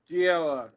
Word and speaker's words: Giella: Joe Giella, I've heard it pronounced also. Gila. First silver Riddler. And this one is 700. Nice. Joe Gila drinks the tequila. No, I think Joe Giella.